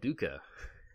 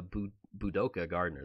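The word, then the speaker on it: Budoka Gardener: just I remember that I've always said that wrong and I remember that I get a lot of comments about the Gardner like I mean you're saying it wrong just it's not I think of a Jukka bog but it's a boo boo dhoka Gardner there we go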